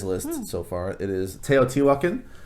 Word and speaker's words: Teotihuacan: so far it is teotihuacan t watkin is and a lot of people stumble over that i think that's actually how i pronounce the city so teotihuacan is how you pronounce it um heavy game um